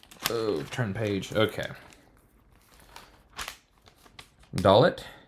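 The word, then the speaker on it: דלת: oh turn page okay dollet is a d with or without the doggish uh that used to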